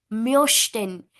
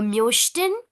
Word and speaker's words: möchten: If it would have been umlaut, then it would have been möchten. O umlaut, io, möchten. Here, no umlaut, so mochten.